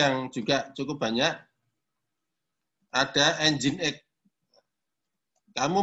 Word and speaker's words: Nginx: Nginx. Tulisannya nging, bacanya Nginx.